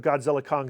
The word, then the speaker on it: Godzilla x Kong: is the success of Godzilla Kong the new Empire don't pronounce the X do not pronounce the